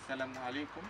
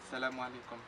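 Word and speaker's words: السلام عليكم: Y después, si no, en todos los países árabes, como son musulmanes, pues dicen desde la Edad Media Salamu alaikum, que es famoso, muy famosa.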